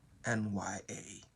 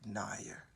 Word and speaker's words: Nya: world sometimes don't know how to pronounce the word Nya, and you just call it Nair. It is not Nair, and it is also